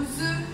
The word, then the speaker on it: œuf: Je pense à la farine que je dois mettre, je pense aux œufs que je dois mettre. Un œuf, on prononce le F, an egg, un œuf.